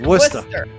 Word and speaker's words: Worcester: Is it Worster, Massachusetts? Worcester Worcester, Massachusetts.